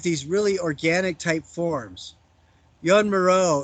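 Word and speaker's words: Joan Miró: Jan Moreau is another guy who's really good to look at. His name is spelled Joan, and his last name is Miro.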